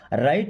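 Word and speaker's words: write: मीस होता है मत राइट मीस लिखो दोस्तों डब्लू के बाद कभी भी आर आएगा ना यानी आर के पहले डब्लू रहेगा तो हमेशा डब्लू साइलेंट होगा है ना डोंट राइट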